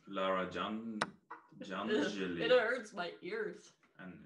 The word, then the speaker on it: Janželj: How do you pronounce those two names? Lara Janželj.